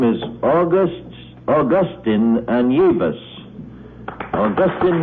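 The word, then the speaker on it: Anievas: His name is Augustin Anyevas. Augustin Anyevas.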